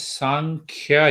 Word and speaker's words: Sankhya: it is known as sankhya yoga so it is made up of two syllables you see there are two syllable one is sum and other is kya sum means equal right